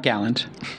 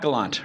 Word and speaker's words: Galant: today my guest today Galant not Gallant no Gallant G Gallant not Galant right Gallant um you mostly got a lot